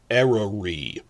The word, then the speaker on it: Eryri: Snowdonia National Park, where they filmed a lot of Season 2, in Welsh is called Eryri. The Y is like a U, so it's Eryri.